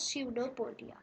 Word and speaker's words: pseudopodia: it takes out some finger like projections called pseudopodia okay i'll just write its spelling here so it's p s e u d o p o d i e okay no portia it's pronounced as pseudopodia okay now these are basically the false feet